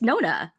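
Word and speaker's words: Nonna: Allie is just like, it's not Nana, it's Nona. Why are you saying Nana? It's Nona. She's like, not Allie, sorry, Alyssa. Alyssa can't believe it. She's just like, why are you pronouncing it wrong? Like one of the most known Italian words in the world.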